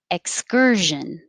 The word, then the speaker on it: excursion: was the first one when you say your tongue goes in the k position but you don't say ek you just hold it there so the question came